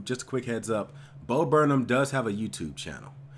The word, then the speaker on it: Bo Burnham: you guys have been asking for some more bo burnham and yes I've learned that's how you pronounce his name something that was requested a